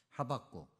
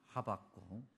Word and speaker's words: 하박국: 그래서 그런지 오늘 우리 찬양대도 어 굉장히 차분하게 이게 지금 어 주님의 말씀을 생각하는 그런 찬양이 이제 뭐 이렇게 올려졌는데 하박국 호박국이 아니라 하박국 제가 호박국이라고 얘기한 이유가 있습니다.